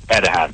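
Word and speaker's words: Erdoğan: His name is Recep Tayyip Erdogan, but, you know, Erdogan, basically. Erdogan.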